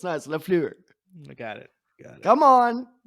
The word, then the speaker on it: LaFleur: keep saying it wrong. Say it with me. Say it with me, right? Lafleur. You got to give that Lafleur.